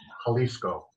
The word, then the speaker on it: Jalisco: slight correction the uh the spanish j is an h so it's jalisco oh thank you one